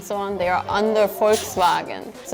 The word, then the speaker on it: Volkswagen: But then I know that Koreans and also Japanese I think they just can't say the F sound properly like F or V sound. So it usually sounds like a B.